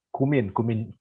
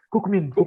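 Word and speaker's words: Kookmin: Kayaknya kemarin aku salah ini bilang kan, kalau di sini kan bacanya Kukmin itu kan Kumin itu Kumin University. Nah terus aku bilangnya Kukmin ya kan, itu nggak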